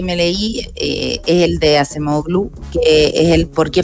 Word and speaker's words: Acemoglu: Daron Acemoglu, no sé si se pronuncia bien así, Acemoglu. Simon Johnson. Acemoglu, sí. ¿Acemoglu? ¿Sí? ¿Está bien? Sí.